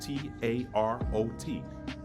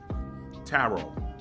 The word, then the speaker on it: tarot: deal with the country tarot you got a t-a-r-o-t the final t is actually silent so if you drop